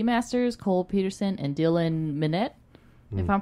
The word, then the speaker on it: Minnette: And then Dylan Minette? Monet. How's it spelled? Minnette. Minette. Minette. Yeah. Yeah, it's Minette.